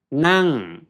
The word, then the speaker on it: นั่ง: กิน sitting and eating โอเค นั่ง falling tone นั่ง นั่ง นั่ง กิน นั่ง